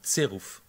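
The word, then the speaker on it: Zeruf: ça s'écrit Z-E-R-U-F, et ça se prononce en allemand tserouf.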